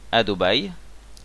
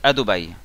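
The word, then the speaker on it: אדוני: Ensuite les deux prochains mots c'est Hachem, donc Adobai, Elohenu. Adobai en mille est rare, c'est-à-dire qu'on prononce pas, on dit pas Adoba, c'est Adobai.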